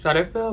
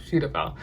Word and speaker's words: Cetaphil: up using um cetaphil i used to pronounce it shutter fill but it's suitable and i grew up